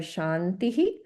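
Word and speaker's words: शान्तिः: So keep in mind that um the viscas in the first two will be pronounced differently from how it is at the end because these two are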